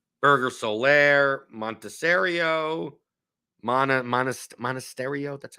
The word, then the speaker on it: Monasterio: could do it Burger Solaire montessorio Mana modest monasterio that's how you pronounce it Contreras I mean if you're still